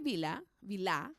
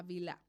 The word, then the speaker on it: Bilha: mira, al hablar de Bilá, porque tiene acento en la A, esta fue entregada porque Raquel ansiaba tener un hijo, ¿cierto?